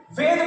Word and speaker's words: वेद: जैसे योग को योगा कहने लगे लोग, वेद को वेदा कहने लगे लोग, और संस्कृत जब संस्कृता हो जाएगा तब सब लोग समझेंगे संस्कृत से।